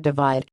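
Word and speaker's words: ÷: released from Ed's record-breaking third studio album / pronounced divide and has already accumulated over half a billion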